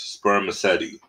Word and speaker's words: spermaceti: material in their heads it is called spermaceti you say it like this sperm acety but scientists don't really